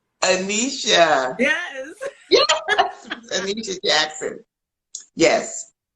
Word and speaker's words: Aneshia: name mispronounce your name you're going to pronounce it correctly anisha yes yes anisha jackson